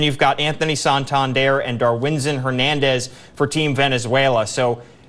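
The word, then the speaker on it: Darwinzon: in Camp is that it is darwinson and not Darwin's on because that's how I've been pronouncing it I kind of enjoy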